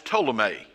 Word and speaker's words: Ptolemy: was down in the South and that was Ptolemy spelled with a p that would be under say